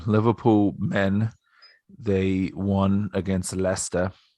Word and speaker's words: Leicester: men they won against leicester lychester this is also an episode about a lot of british pronunciations lychester to uh leicester